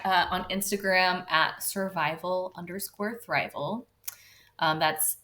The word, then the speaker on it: thrival: on Instagram at survival thrival um that's s v i v a lcore thrival t h r i v a l kind of like survival and thriving but it me it rhymes with survival um and the reason